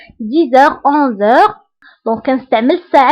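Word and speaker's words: dix heures: دائما انتبهوا للنطق 10 heures. هنا أيضا قمنا بلا liaison entre X et H.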